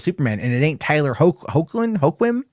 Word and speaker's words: Hoechlin: So it's like he's not messing with Superman, which means there's still something happening with Superman, and it ain't Tyler Hoechlin. Hecklin.